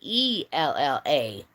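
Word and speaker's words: Aella: And she said, "Nope, you pronunciate my name as Ella because in England they do the A E thing and it's pronounced as one letter.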